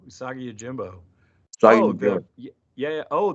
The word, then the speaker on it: Usagi Yojimbo: To bring him a Saga Yojimbo? I ain't pronouncing that right at all, am I? No, Usagi Yojimbo.